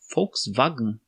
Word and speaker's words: Volkswagen: pronúncia correta não é com exceção de ver volks seria com o som df sim efe seria fux wagner só que lá eles não lesse e também né eles fazem um fox vago um eles falam mais ou menos assim engraçado né é a diferença da pronúncia de algumas letras fux vagan e aqui a gente